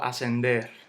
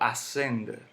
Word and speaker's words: ascender: Luego ascender. Yo no digo ascender. Yo no digo ascender. Yo digo ascender.